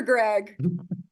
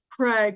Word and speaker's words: Craig: Wait, Craig or Greg? Craig with a hard C.